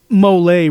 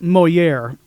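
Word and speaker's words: Molière: And when he, when Bender like mispronounces the name, this Mole really blows my mind. And like Claire goes, Moliere.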